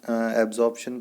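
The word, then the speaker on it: absorption: यहाँ पर आप देख रहे हैं AB एब्जॉर्प्शन, प्रोनाउंसिएशन पे ध्यान देना। AD एड्जॉर्प्शन।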